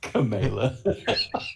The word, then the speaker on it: Kamala: I pledge right now to never pronounce Kamala Harris incorrectly. Kamala.